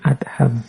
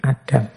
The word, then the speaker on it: Adham: Membacanya memang bin Adham bukan bin Adam.